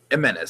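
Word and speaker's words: Jiménez: Jimenez. It's an H. Jimenez. No, it's spelled X, but it's pronounced H.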